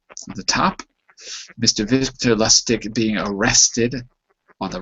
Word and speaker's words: Lustig: Victor Lustig being arrested on the right, on the bottom.